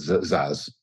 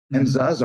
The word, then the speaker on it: Szasz: I always pronounce it Szasz.